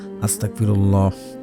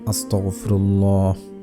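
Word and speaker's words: أستغفر الله: অনেকে ভুল করে কয় আস্তাগফিরুল্লাহ, আস্তাগফিরুল্লাহ, আস্তাগফিরুল্লাহ, এভাবে পড়লে হবে না। আপনারা পড়বেন আস্তাগফিরুল্লাহ, আস্তাগফিরুল্লাহ, আস্তাগফিরুল্লাহ, আস্তাগফিরুল্লাহ, এভাবে আপনারা পড়বেন, উচ্চারণ ঠিক হবে।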